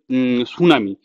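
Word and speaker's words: tsunami: তোমরা হয়তো এখন জানো না যদি বলি যে সুনামি সুনামির স্পেলিং কিন্তু শুরু হয় টি দিয়ে টিটা কিন্তু সাইলেন্ট টিটা কিন্তু আমরা উচ্চারণ করি না ঠিক তেমনি এখানে হচ্ছে এইচটা হচ্ছে সাইলেন্ট।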